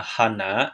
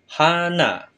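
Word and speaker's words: 花: silakan perhatikan langkah-langkahnya Nah untuk kunyominya itu adalah Hana yang artinya bunga sedangkan ongyominya itu k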